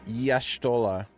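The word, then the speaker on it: Y'shtola: What the Yashtola? We're pronouncing the apostrophe all the way.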